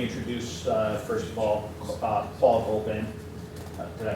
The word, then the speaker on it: Goldman: And Paul, why don't we ask you to comment on what you've heard, and let me introduce, first of all, Paul Goldman. Did I pronounce that correctly?